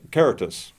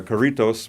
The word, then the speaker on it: Caritas: and he's one of the directors of uh karatus i've been pronouncing it wrong as uh karitos but uh anyway he helped me uh to